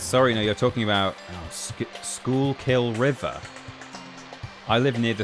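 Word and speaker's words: Schuylkill: Pronounce Oh, yes. Sorry. No, you're talking about Schoolill River. I live near the Schoolill River, which no one outside the area seems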